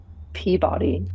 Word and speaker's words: Peabody: Is that how we pronounce that? Peabody.